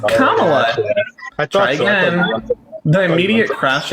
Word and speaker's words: Kamala: did she Implement those can you try to pronounce her name right it's pronounced Kamala try again the immediate